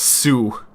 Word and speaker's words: Sioux: It's pronounced Sioux. So it's just Sioux Falls.